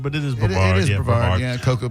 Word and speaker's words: Brevard: It's out of Brevard County, or Brevard County, however you want to pronounce it. That's Brevard. I always say Brevard, but it is Brevard.